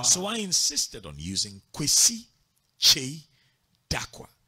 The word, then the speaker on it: Kwesi Kyei Darkwah: So I insisted on using Kwesi Kyei Darkwah. Now, those were five syllables. Now, that was a lot. See, because Che stands by itself. Kwesi stands by itself. Dakwa stands by itself.